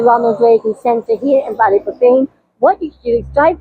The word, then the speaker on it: Ballyporeen: Even here in Ballyporeen, I'm pronouncing it wrong, Paul. Ballyporeen. Ballyporeen. So yeah, so it sounds like poaching, Poaching, yeah.